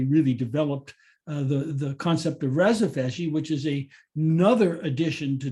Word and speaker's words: rhizophagy: And then we had rhizophagy, which was discovered in Australia, which is why people pronounce it in a different way, I think. But here in America, we say rhizophagy.